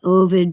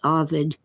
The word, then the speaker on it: Ovid: I guess it's okay to pronounce it Ovid, but all the professors pronounce it Ovid.